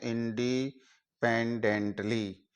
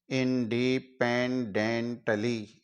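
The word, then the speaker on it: independently: अक्षर ही गिना जाए अब इसको एक साथ उच्चारित करते हैं इंडिपेंडेंटली इंडिपेंडेंटली इस तरीके से हम इसका उच्चारण कर लेते हैं इसी तरह आगे वाला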